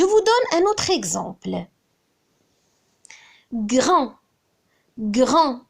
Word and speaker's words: grand: Grand. Grand. Quel est le féminin de grand? Grand. C'est grande. Grande. On entend le son de au féminin. Automatiquement, il faut rajouter un D à la fin de grand.